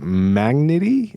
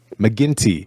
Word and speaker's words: McGinty: And the character's name in this is Magnity. I don't even know how you pronounce it. How do you pronounce it? McGinty. Yeah.